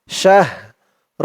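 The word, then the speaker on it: شَهْر: শিন হা জবর শাহ শাহ র দুই জের ঋণ অকফ করার কারণে উচ্চারণ হবে শাহর শাহর র আওয়াজটা লাস্ট একটু ভাসবে খাইরুম মিন আলফিশাহ লাইলাতুলুম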